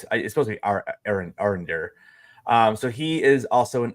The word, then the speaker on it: Arondir: Yeah, it's supposed to be Arondir.